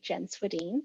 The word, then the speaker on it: Swedhin: that good stuff um okay so great job pronouncing my last name you did it right jen swadeen i've been practicing eat it good on my